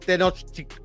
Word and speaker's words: Tenochtitlan: In Spanish, it's pronounced Tenochtitlan.